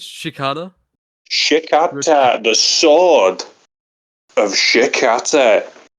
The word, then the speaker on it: Shikata: Wait, let me let me search up the pronunciation. Uh, no, no. It's Shikata.